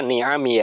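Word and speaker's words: نعمي: Nah, bacanya ni'ami ya, karena tidak ada taknya ya.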